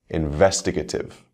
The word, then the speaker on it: investigative: First, words ending in ative. For these words, we stress the same syllable as the root word.